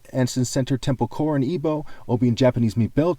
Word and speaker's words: Igbo: to spell My Tribe another way to spell is Igbo where the g is silent okay and of course the word chi is also an ebo word in in in